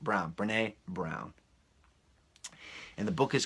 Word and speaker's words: Brené: believe I don't wanna mispronounces brene brené Brown bre any with an accent Brown brené Brown and the book